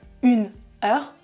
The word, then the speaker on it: heure: En français, je précise, on ne prononce pas le H dans le mot, par exemple une heure.